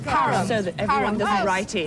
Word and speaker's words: Parham: Yes, at Parnham House, yes, definitely, but we're not sure where you've got to go when you get there, Annie. Friendly little shot, that, Graham. It's pronounced Parham. Parham.